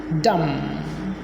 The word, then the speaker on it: dumb: Dumb. The B is silent after M if they are the last 2 letters. Dumb, dumb.